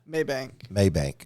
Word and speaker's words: Mabank: Maybank.